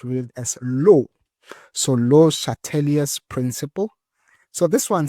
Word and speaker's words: Le Chatelier: So in French they call it les chateliers. Okay, so it's les chateliers, right? So this is the principle we need to know of by heart. So in in French it's le Chatelier's principle. All right, le Chatelier's. But because we don't speak French, we must say le Chatelier's.